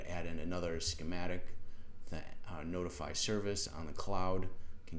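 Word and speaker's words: ntfy: And then it's using this, this service, push notification service, pronounced notify, NFTY.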